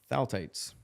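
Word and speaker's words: phthalates: Oh, ph is silent.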